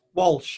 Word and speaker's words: Walsh: But the man that is David Walsh, am I pronouncing that right? Walsh, yeah.